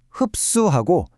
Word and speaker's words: 흡수: 발음할 때 흡수하고 시옷이 아주 강하고 단단한 쌍시옷 소리로 나죠.